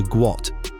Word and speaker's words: Gout: His name, according to his father Bona, was originally pronounced closer to Gwot, a Dinka name that was misspelled during transliteration from Arabic when the family was trying to leave the country.